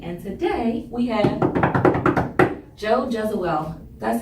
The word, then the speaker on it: Jesuele: also known as the Agent Lady, and today we have Joe Jesuele.